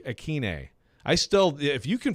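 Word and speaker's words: Ikhine: butchered i mean like not everybody says westbrook akina but apparently that was wrong anyway so westbrook aquine i still if you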